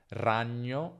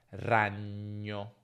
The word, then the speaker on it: ragno: Quindi ragno si pronuncia ragno, ragno e non ragno, ma ragno.